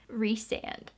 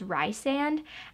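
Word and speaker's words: Rhysand: i was reading it i thought it was rye sand and then in this collector's edition they have pronunciations and it said you pronounce it as like reese re-sand so that's gonna be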